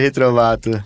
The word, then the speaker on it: Retrovatto: profissional que estou falando é o Alexandre retrovato pronunciei seu nome Alexandre exatamente Alexandre retrovato é uma grande honra receber você aqui e